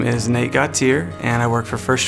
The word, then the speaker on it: Gautier: the last name got tear nobody will ever pronounce that right anyone that sees this will go go to God my favorite is guitar that is my favorite my name is Nate gutsier and I work for first choice insurance I'm